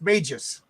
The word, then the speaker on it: Magus: And from the chat, it's pronounced Magus.